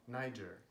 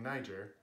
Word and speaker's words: Niger: talk about it they they're starting to say in EJ and I've even seen some news personalities who a week ago when they were talking about it they were saying Niger and now they pronounced it me Jer and I'm just like